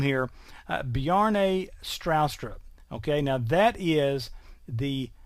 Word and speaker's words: Bjarne Stroustrup: this is from, and watch this name here, Bjarne Stroustrup. Okay, now that is the Tennessee pronunciation of a name that's obviously not from around here anywhere.